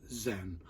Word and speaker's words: Zen: And then through China is going to Korea, then from Korea is going to Japan, and Japan pronounced Zen.